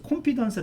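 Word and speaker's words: confidence: 할 때는 이제 컨피던스 컨피던스 하는데 미국식 발음은 여기 강세가 있어서 컨피던스 되는 거예요 그래서 제가 좀 뭐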